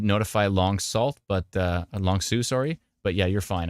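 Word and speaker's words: Long Sault: into Cornwall right now long Sue Oh Long Sue okay yeah like long like Sous Marine perfect I got it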